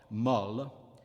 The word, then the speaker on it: molle: O is open in the feminine adjective meaning soft, molle, and close in the word meaning word, mot.